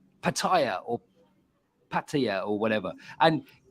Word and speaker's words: Pattaya: How do you say that now, Phil? Pattaya. Let's do a quick check. Pattaya. Exactly. Perfect. That's right on, Phil.